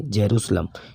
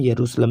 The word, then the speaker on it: यरूशलम: Israel की राजधानी जेरूसलम, इसको हम यरूशलम भी पढ़ते हैं, जे साइलेंट हो जाता है ना, यरूशलम या जेरूसलम हम पढ़ सकते हैं।